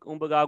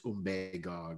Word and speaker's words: Umbagog: And as I've always said before, the proper pronunciation for everybody that lives here, it's Umbagog, but Umbagog. I've said it wrong for years, so I keep saying it wrong.